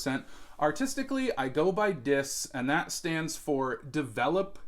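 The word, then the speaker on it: Dys: Well, his name is Dis. That is spelled D-Y-S, and it stands for something.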